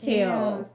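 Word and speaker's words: Chaol: series it's pronounced Kale like Kayla said to um I think last book club that it's like chaos so like kale k kale that's the only that's the only way my my brain couldn't say okay it's ch so I was like kale kale kale not be as hot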